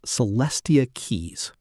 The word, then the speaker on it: Celestia Quixs: Celestia Quixs, pronounced Celestia Quixs, asked an AI to explain who she is and why anyone should care.